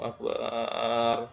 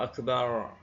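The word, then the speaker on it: أكبر: Kalau orang Indonesia biasanya akbar, ya, agak geser sedikit. Kalau yang ejaan dengan Inggris, ya, R, sehingga menyebabkan jauh sekali, akbar. Maka ini salah, ya. Ro, akbar, R, ya. Ya, demikian ini teman-teman 10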